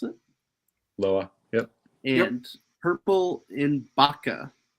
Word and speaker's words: Loa: Is that how you pronounce it? Loa.